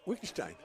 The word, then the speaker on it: Wittgenstein: Pronounce his name for us. Oh, you may be talking about Wittgenstein. Yeah, 2-0. Wittgenstein.